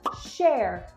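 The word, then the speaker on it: cher: roll also you'll hear the term share which means dear and that's spelled c e r means like oh dear oh share sorry about that so you'll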